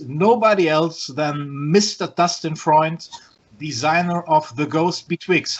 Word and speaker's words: Freund: Only Germans know it's Freund.